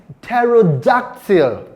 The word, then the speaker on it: pterodactyl: The word is pterodactyl. Can you say that? Pterodactyl. Beautiful. The p sound there is not pronounced.